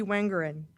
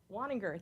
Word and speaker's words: Waninger: next we have uh wangerin uh or I apologize I feel like I've Mis pronounced your name would you help me with it wer waninger thank you so much Winger